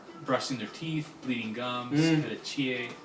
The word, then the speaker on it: petechiae: their teeth, bleeding gums, petechiae, I think it's pronounced. Petechiae. Yes, it's kind of French.